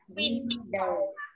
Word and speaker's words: window: Rồi, nhớ nha, cái từ bà quả phụ chỉ đọc là we đầu. Còn cái cửa sổ đọc là win đầu. Window.